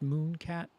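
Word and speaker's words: Müne Cat: And their name is Mune Cat, and the U is the one with the 2 dots over it, but it's pronounced Moon Cat.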